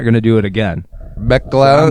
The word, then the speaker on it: McElhenney: And I think just like, could you imagine being at a party and you see Rob McElhenney, you've had a few too many martinis, and you just want, excuse me, Mr.